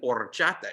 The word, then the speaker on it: horchata: and you have an horchata shake, and you got to roll your R's to do it right.